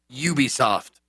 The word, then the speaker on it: Ubisoft: it uh hold on max how do you pronounce it huby soof zeke um ubisoft zeke is correct okay yeah so this this